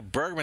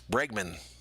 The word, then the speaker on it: Bregman: snazzy next pitch to bergman another strike so bergman now is in an 0-2 hole i say his name wrong all the time it's bregman the o2 pitch swing